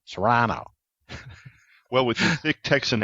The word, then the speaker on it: Toronto: I lived up in Toronto, and that's when the people told me, this is how you pronounce it, because I went there calling it Toronto. I said, nah, Toronto.